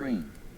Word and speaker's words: Reen: Reen BTW is pronounced like rain.